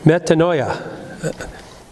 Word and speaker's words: metanoia: But the first part of it is meta. The second part of it is mind. Noia. Metanoia.